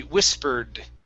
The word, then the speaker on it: whispered: If you want to pronounce it in past tense, it would be whispered with a D sound at the end.